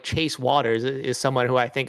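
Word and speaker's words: Wouters: Yeah, and someone like Chase Waters is someone who I think is going to survive the first round. First of all, I'm surprised it's pronounced Waters. I thought it was Wooters for the longest time, and then I was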